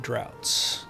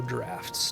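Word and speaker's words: draughts: they um umari linstad droughts or drafts depending on which pronunciation you use for a ght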